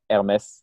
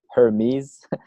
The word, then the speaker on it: Hermès: luxury company in France, Hermès. Not sure if you're familiar. It's like I think in English people would pronounce it Hermes, with like the fancy bags and stuff.